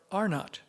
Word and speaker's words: Arnot: One was I don't know whether it's pronounced Arno Creek or Arnott Creek. It's Arnot.